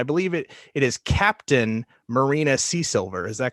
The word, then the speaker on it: Seasilver: Now, tell me if I'm pronouncing this incorrectly, but I believe it is Captain Marina Seasilver. Is that correct? Seasilver. Oh, Seasilver.